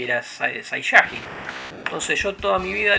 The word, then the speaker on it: Saiyajin: Entonces, la lectura era Saiyajin, porque era la segunda sílaba contando desde atrás para que sea grave.